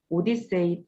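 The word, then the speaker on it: OHDSI: 이에 트워크 의 약자로 oh desi 이렇게 표기를 하구요 오디세이 또는 odc 이렇게 발음을 합니다 소호대 씨 같은 경우에는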